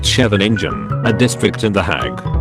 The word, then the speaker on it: Scheveningen: In WWII, the Dutch would identify German spies by how they pronounced Scheveningen, a district in The Hague. The Germans pronounced the first syllable as something like the English word chef, while the Dutch version has a guttural sket sound.